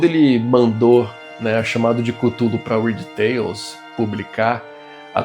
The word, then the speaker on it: Cthulhu: Não tem um jeito certo mesmo, porque o próprio Lovecraft já disse em cartas que ele trocava com os amigos na época que é uma pronúncia que só é feita corretamente por uma garganta que não seja humana. É impronunciável para nós, seres humanos. Cada um fala de um jeito, tá tudo certo.